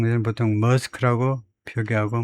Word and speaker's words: Maersk: 가지는 보통 머스크라고 표기하고 머스크에 발음은 스크 근데 애 발음이 아주 짧아야 되니까 머스크라고 발음하는게 스크 애가 딜말하고 뭐에다 추천을 고스 알바음을 조금 조금 하는게 좋죠. 스크 조금 조금 길게 우리 식으로 그냥 머스크가 아니고 스크 머스크 정도로 하면 되겠네요.